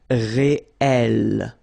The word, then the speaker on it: réel: same consonant like here, the sound of the E changes and it's open, it's E. So that's the reason why you've got this réel.